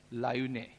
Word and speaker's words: Laayoune: चलते हैं वेस्टर्न सहारा की तरफ, ऊपर मोरक्को के नीचे, और इसकी कैपिटल है, इसको अच्छे से आपको प्रोनाउंशिएट करना है, LAAYOUNE, लायूने।